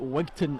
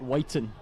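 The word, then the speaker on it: Wigtown: He says, I pronounce it Wigton and not Whiten.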